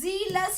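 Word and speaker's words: zealous: जीलस बोल रही हूँ, एक जे वाला जेलस होता है, ध्यान रखिएगा, एक जे से होता है जेलस, ठीक है, एक ही स्पेलिंग है, बस इसका फर्क है, इसको जेलस बोलते हैं, और जेड वाला, ये एक्चुअली जेड तो होता नहीं, जी होता है, इसलिए इसको जीलस बोला जाता है।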